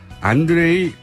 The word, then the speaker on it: 안드레이: 지금 이 상황을 이분은 어떻게 보실지 러시아 출신 북한 전문가 국민대학교 안드레이 란코프 교수님 스튜디오에 직접 모셨습니다. 안녕하세요. 네, 안녕하십니까. 제가 발음을 잘했습니까? 안드레이. 잘했습니다. 네, 잘했습니다.